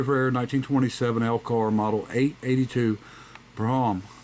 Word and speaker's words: Brougham: I've inherited a very rare 1927 Elcar model 882 Brougham, and or Broom is actually how it's pronounced, but or Brougham, either way.